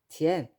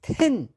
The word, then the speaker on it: 天: 그런데 이제 중국에서는 하늘 천로 안하고요 티이라 합니다 티엔 그래서 한국인들은 이제 늘어나는 말을 그 딱 한 단으로 하는 데는 또 선수지 않습니까 그래서 텐 텐 이라고 중국인들이 발음하는 티엔을 텐으로 발음을 하죠